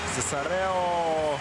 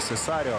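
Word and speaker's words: Cesario: Ну, а это Элизабет Сесарео. Точнее, Сесарио, да? Ударение там стоит на букве А.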